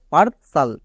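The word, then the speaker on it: partial: করে ইনিটিয়াল বা ইনিশিয়াল কিন্তু এটা ভুল এটার উচ্চারণ হবে ইনিসাল নেক্সট একই রকম ভাবে পারসাল কেন কারণ টি এ আর পার টি আই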